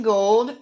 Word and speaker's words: Gould: i search for gould it's pronounced gold but it's spelled like ghoul g-o-u-l-d and we have